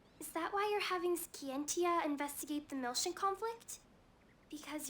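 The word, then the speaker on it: Scientia: that why you're having skientia investigate the milsion conflict because your father might have been involved i don't know for certain ski and tia is how it's pronounced you're for daily winks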